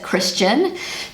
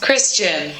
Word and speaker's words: Christian: The British English way of pronouncing it is Christian. And the German way of pronouncing this name is Christian. Christian. So once again, in English, the name is just very short and sweet, Christian.